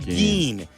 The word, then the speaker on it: Gein: How do you pronounce his last name? Ed Gein.